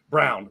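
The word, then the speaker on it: Braun: they have Christian Brun Brown which is pronounced Brown the same way and he's he's stepping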